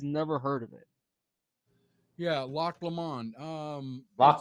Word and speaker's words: Loch Lomond: asked old fashioned about the Loch Lemon. He said he's never heard of it. Yeah, Loch Lomond. Loch It's Lamont. Loch Lemon. yeah, Loch Lomond.